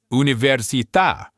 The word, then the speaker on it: università: If a word breaks all the other rules and puts the stress on the very last syllable, the spelling will give you a giant clue, a written accent mark. So you literally never have to guess. If you see that little accent mark, you stress that syllable.